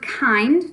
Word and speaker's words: kind: grass all right so our word kind just like find but with a k' and again it's not following the rules that we've learned but this is how it's spelled and this is how it sounds we just have to learn it kind K